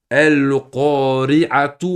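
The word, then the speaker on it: القارعة: Si vous lisez cette sourate ici, les frères, et que vous faites la liaison, donc vous n'arrêtez pas au verset, hein, vous allez prononcer tout. Exemple, al-qari'atu mal-qari'a. Al-qari'atu, tout. Parce que je lis, je ne m'arrête pas ici, je ne fais pas de pause.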